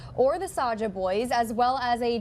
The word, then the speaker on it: Saja: No, and I'm probably it's probably Soja Boys, and I'm saying it wrong. I really don't know. Saja Boys.